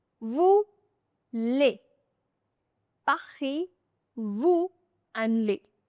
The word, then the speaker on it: vous: The final letter S is silent, so it becomes pa-hee. Voo.